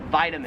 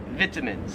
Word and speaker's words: vitamins: Some people in Australia, I don't know why, but they pronounce it vitamins. No, it can't be. It's not vitamins. That just sounds so wrong.